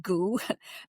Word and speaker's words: Gu: So goo is, just in case you're wondering, is spelled gu um in English and it doesn't really have a translation. So we're just going to call it goo.